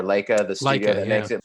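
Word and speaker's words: Laika: and then this uh I think it's pronounced Leica or Leica the studio that makes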